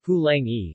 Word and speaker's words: Palagi: Jan Tent and Paul Jarity, have suggested that the Samoan and generic Polynesian term for Europeans, Palagi, pronounced Pulang-e, or Papalagi, might also be cognate, possibly a loan term gathered by early contact between Pacific Islanders and Malays.